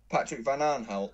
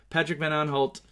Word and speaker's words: Van Aanholt: Patrick Van Aanholt. I just love the way you say it. Patrick Van Aanholt.